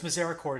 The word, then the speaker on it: misericord: to have I'm not I don't know how to pronounce it's French it's like mazera cord or something like that and it was yeah it's misericord in in English right um misericord can